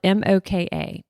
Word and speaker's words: moka: So the mocha, it's spelled MOKA, and it's a stovetop like espresso maker.